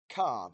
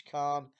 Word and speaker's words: Calne: But I got a job, and it was from Cairn, Calne. I can't ever pronounce how it's pronounced, but it's Cairn, and it was to Peterborough to deliver on the Tuesday.